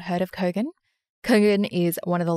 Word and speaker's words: Kogan: to say it but it's kogan i say it wrong every time i keep saying coogan kogan kogan kogan and